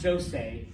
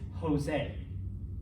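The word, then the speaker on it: José: like not a y it sounds like an english h so that's jose it's not jose okay it's jose okay um anything with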